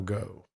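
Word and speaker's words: Geaux: Gold Tigers. But they don't spell it go. No. G E A U. That's go in Louisiana.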